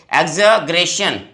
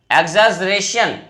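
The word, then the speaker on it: exaggeration: Next word अगर हम देखें, देखिए ये वर्ड थोड़ा सा इसका उच्चारण देखिए, एक्सग्रेशन, एक्सजरेशन, ज की आवाज है इसमें, ग जो है वो ज की आवाज दे रहा है।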